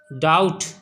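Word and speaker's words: doubt: डाउट B silent है।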